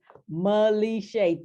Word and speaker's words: Malishay: It's Malishay, 3 syllables.